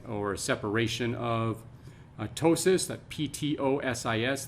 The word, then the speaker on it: ptosis: separation of ptosis that p-t-o-s-i-s the p is silent so ptosis meaning a